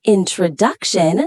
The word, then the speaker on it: introduction: In introduction, the stress is on tro.